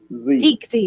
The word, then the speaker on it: Teagsy: Teagsy. You do say the G.